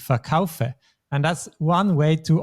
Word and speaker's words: verkaufen: And in this case, the stress is not on the syllable, but on the kaufe, on the second syllable, ich verkaufe.